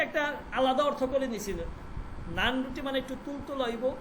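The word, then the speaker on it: نان: নান রুটি মানে একটু তুলতুল হইব, একটু হইব, একটু অন্যরকম হইব, ঠিক আছে। তো যাই হোক, কিন্তু ওইটা হচ্ছে নান, কিন্তু ফার্সিতে উচ্চারণ হবে নন, ন নুন আলিফ ন সেদে বুলান।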